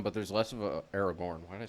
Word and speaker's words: Aragorn: Um, you do still have the conversation um between Bormir and Aragon, but there's less of a Aragorn. Why did I say Aragon?